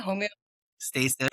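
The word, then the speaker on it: homeostasis: We talked about a kind of kept family in homos home stasis. How do you pronounce that? Yeah homeo stasis.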